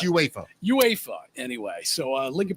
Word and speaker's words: UEFA: It's UEFA. Oh, is that what it is? UA pronounce it UEFA.